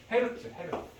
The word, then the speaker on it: Hz: 헤르츠. HZ라고 쓰고 이거 헤르츠라고 읽어. 헤르츠. 그럼 만약에 자 5헤르츠 하면 1초에 5번 진동했다는 뜻이 되는 거예요.